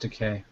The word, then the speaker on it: Takei: Is it A, William Shatner, B, George Takei, C, DeForest Kelley, or D, Nichelle Nichols? I thought it's pronounced Decay.